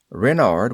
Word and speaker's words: Renard: Renard with the accent on the ren.